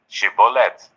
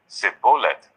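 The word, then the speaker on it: Shibboleth: they said all right say shibolet if he said sioth because he could not pronounce the word correctly They seized him and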